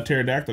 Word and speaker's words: pterodactyl: you can't hear uh pterodactyl go to the bathroom because the p is silent this is your